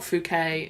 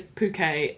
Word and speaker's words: Phuket: Um, can you tell me now is that how you pronounce fuket? Have you I think it's fuket. Okay. It's not fukquet. It's not puket. Is there any other? No. No. There no other ways you could pronounce it. No, it is puket. At least that's what I believe it to be.